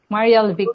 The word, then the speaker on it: Marielvic: po Yes Miss Mar how do your friends call you kasi medyo mahaba yung name mo eh Mar K pagpronounce marel vick or Mariel vick Mariel vick po ah Anyway may historyan